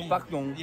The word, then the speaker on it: pardon: With "dong" at the end. "Pardong."